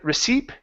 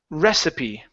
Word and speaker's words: recipe: the word receip okay this word is pronounced recipe recipe recipe good and this is probably one of the only times you guys where that e at the end of a word actually is pronounced um and it's it's more than likely because it comes from a different language and we've we've adopted it into our language okay so yes it